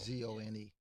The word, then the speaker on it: DAZN: Is there a way to pronounce DAZN. DAZN? DAZN. It's Oh, DAZONE.